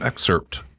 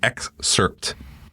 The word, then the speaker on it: excerpt: and I have heard an excerpt an exerpt excerpt excerpt exerpt the p is not silent the p is not